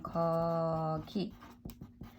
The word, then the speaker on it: 거기: 여기 pronunciation 여기 and there which is 거기 and pronunciation 거기.